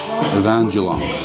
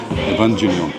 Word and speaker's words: Evangelion: and like went straight over to Neon Genesis Evangelion. I think that's how you say it, Evangelion.